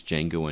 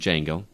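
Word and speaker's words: Django: Tarantino film which is D Jango Unchained this is actually is silent thank you Justin the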